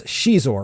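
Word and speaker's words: Xizor: We were called him Prince Shizor, right? That's how I've always understood it to be pronounced.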